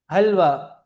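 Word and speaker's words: حلوہ: حقة هلوى. حلوة حلوة حلوة حلوة بعده فتحة. لا لا، ليس حاء، ها. كما تنطق ها قلت نعم أيوة أن الحاء تنطق ها، فنقول مم. هكة وهلوى.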